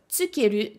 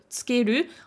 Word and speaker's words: 付ける: demande quels sont les différents usages du verbe tsukeru, tsukemasu, puisque effectivement ce petit verbe qui de